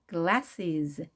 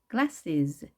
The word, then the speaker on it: glasses: glasses, glasses. 자, glasses인데요. is와 자, s와 es를 빠르게 발음을 하셔야 됩니다.